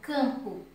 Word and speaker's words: campo: eu pronuncio na palavra, por exemplo, campo, eu pronuncio o A com som nasal. Eu pronuncio o A com o som do nariz, can, certo? O M aí ele não aparece.